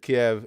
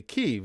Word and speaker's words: Kyiv: Because I had said Kiev, and somebody had pointed out to me in a comment, or I don't even remember where. They said that is how it's typically spelled in the West. They said, but we actually say Kyiv, and it was just an informational thing. And I thought, well, that's how they pronounce it. That's the respectful way to pronounce it then.